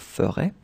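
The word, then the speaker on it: ferais: I mean, phonetically, it's the same, but then remember, you need to put this S at the end of ferait.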